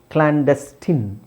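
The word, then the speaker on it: clandestine: ಇಲ್ಲಿ ಐನ್ ಇದೆ ಬಟ್ ಏನಂತ ಹೇಳ್ತೀವಿ ಅದನ್ನ ಕ್ಲಾಂಡಸ್ಟಿನ್ ಕ್ಲಾಂಡಸ್ಟಿನ್ ಇನ್ ಸೋ ಐಎನ್ ಇದೆ ನಾವು ಇನ್ ಅಂತ ಹೇಳ್ತಾ ಇದ್ದೀವಿ ಇಲ್ಲೂ ಐಎನ್ ಇದೆ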